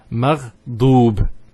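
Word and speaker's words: مغضوب: So maghdoob here has a dhamma on the dad, followed by the waw. So it's an elongation sound. So it's a u sound. So it's maghdoob.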